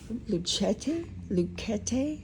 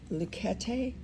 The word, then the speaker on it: Luchetti: Luchetti is what they said on the instructions how to pronounce it. Luchetti, and this is their